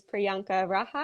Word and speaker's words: Priyanka Raha: uh my name is and this is priyanka raja is that correct yes correct okay fantastic i